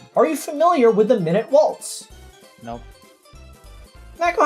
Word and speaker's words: Minute Waltz: It's not minute waltz, it's minute waltz. Minute meaning small.